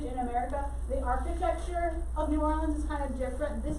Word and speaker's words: New Orleans: Now, some people pronounce it New Orleans. That's not how we say it at all. So New Orleans is how we say it.